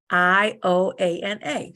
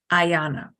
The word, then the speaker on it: Ioana: they just see that they might assume that it's Ayana. I thought it was that at first, but when she said her name, so now, because on Zoom, people call her Ayana so much, she has it like how you pronounce her name, Ioana.